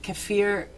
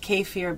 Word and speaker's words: kefir: So this is called, some people pronounce it kefir. My mom always pronounced it kefir, but.